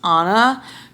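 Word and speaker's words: Ana: Except it is weird because I only spell my name with one N and it's pronounced Anna because it's like Brianna because it's A-N-A, but like I would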